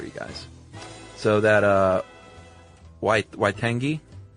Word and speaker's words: Waitangi: So that uh Waitangi, as you said, the treaty, um is pronounced Waitangi. Which is the W sound is the W sound in that one.